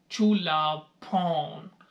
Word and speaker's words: Chulabhorn: तो मैंने उससे पूछा कि हाउ we will pronounce the name of this university. तो इसका नाम बनता है चुलाभोम इंस्टीट्यूट, इसका नाम है।